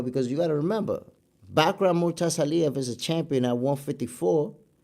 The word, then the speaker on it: Bakhram Murtazaliev: I don't want to mispronounce the champion's name because Bakhram Murtazaliev.